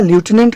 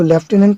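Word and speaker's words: lieutenant: इसलिए ल्यूटिनेंट word को, ये जो वर्ड हमने लिखा था इसका उच्चारण अमेरिका ल्यूटिनेंट करता है, क्योंकि ये साउंड पे जाता है ना कि इसके स्पेलिंग पे जाता है।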